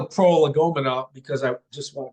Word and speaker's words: prolegomena: Jefferson's notes on the state of Virginia, a prolegomena. Did I pronounce it correctly?